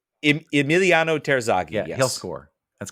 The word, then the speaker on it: Terzaghi: Terzaghi? Emiliano Terzaghi.